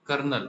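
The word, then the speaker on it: colonel: पुढचा क्वेश्चन आहे कर्नल आता ह्याचा स्पेलिंग वेगळी आणि प्रोनन्सशन वेगळे ठीक सीओ एलओ एन एल कर्नल कर्नल म्हणजे कर्नल असत किंवा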